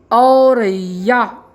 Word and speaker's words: औरैया: निरंतर रूप से ज़रूर कीजिएगा तथा विद्यार्थियों से उच्चारण करने के लिए अवश्य कहिएगा। शब्द है औरैया।